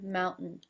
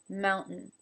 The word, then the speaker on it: mountain: really crisp and heard it often takes on a sound similar to the D I find it more as a stop than a sound itself mount mmm mountain now the thing that's